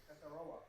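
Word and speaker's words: Tetairoa: I want to say this about Totoro. How do you say it? Tataroa.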